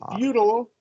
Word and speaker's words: futile: And feudal is going to be pronounced the same way as FUEDAL. Feudal.